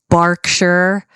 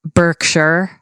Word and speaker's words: Berkshire: for tourists but basically if you see an ER it's very rarely pronounced ER so we've got for example uh the the county where where Windsor is where Windsor Castle is is is Berkshire not Berkshire right uh in America